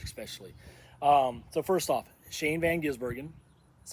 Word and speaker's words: Shane van Gisbergen: the cup series especially um so first off Shane Van ginsbergen that's how you say his name uh watch